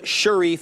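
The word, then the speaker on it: Cherif: No, it's Sharif. It's spelled the French way. That's why it's C, not an S.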